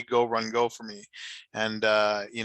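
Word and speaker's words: Gauranga: mean if you look it's go run but often times in uh in uh in mayapor um the people way people will pronounce it is gorongo especially amongst bengalis so uh we uh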